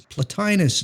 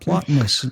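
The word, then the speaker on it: Plotinus: me about uh doug it's platinus it's not plotness like you said in your neoplatonism episode and it's like i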